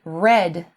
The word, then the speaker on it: read: However, in the past simple, it is pronounced as R-E-D, like the color red. I read a book last night.